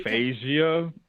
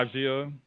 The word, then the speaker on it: aphasia: Can you pronounce it? Hold on, let me look. I know Cardi B. Aphasia. Yeah. Aphasia.